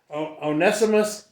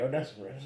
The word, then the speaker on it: Onesiphorus: This Onesiphorus, how do you say that? I think you got it right, Onesiphorus.